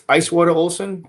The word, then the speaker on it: Icewater Olson: It's Icewater Olson, exactly how it's spelled.